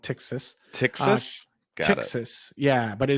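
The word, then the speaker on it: Ptyxis: It's pronounced Tixis.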